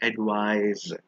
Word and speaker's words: advise: S sound advice but the one with the S actually has the z sound like adise the one with the